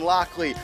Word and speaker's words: Lockley: first quarter scifirs defense bryson lockley rhymes with blockley north shore's kerwin roach